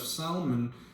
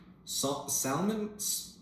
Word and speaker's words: Salmon: was the father of Salon Salon it's spelled exactly how you would read salmon the father of Boaz